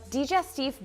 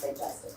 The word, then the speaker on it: digestive: He's now using the biscuit joiner on this straight face, and he's putting in some digestif biscuits. You realize about pronounced digestive, right? Not on the French side.